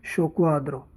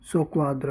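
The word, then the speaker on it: soqquadro: होते हैं उसका इटालियन में शब्द होते हैं शोक्वाद्रो। एकमात्र शब्द है जिसमें डबल क्यू एक साथ है, बाकी डबल क्यू की जगह CQ लिखा हुआ मिलेगा। डिसऑर्डर होते हैं उसको बोलते हैं सोक्वाद्रो, यानी बिखरा हुआ या उथल पुथल।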